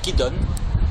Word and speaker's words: Kidon: Emmanuel Nakache, alors vous venez de réaliser un film qui s'appelle Qui donne? Voilà, donc c'est la vraie prononciation, mais on pourrait dire en français qui donc, mais qui est-ce?